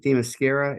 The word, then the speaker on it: Themyscira: Themyscira?